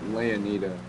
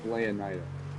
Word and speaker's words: Leonida: Okay, I forgot the name that I gave the Florida equivalent state, but it's not Le. It's not Leonita. Wait, no. Oh, yeah. It's Leonida. It's That's literally how it's pronounced.